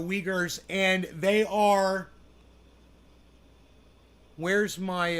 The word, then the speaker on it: Uyghurs: leaguers the uyghurs okay so that is how you pronounce that the uyghurs and they are where's